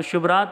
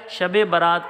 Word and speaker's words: شب براءت: رات، چھٹکارے کی رات۔ تو شب رات تلفظ خدارہ نہ ادا کیا کریں، شب براءت کہا کریں۔ آئیے اب ہم اپنے